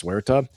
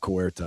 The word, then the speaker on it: Ceuta: If Spain, as you're saying, Nate, too, still claims this place, Ceuta, which I'm glad for all the Marines out there, it's not Cuerta, it's Ceuta.